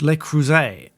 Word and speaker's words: Le Creuset: Mindy, I think, when she mispronounced Le Creuset, and I think she pronounced it with a T at the end, which is, it's a common mistake.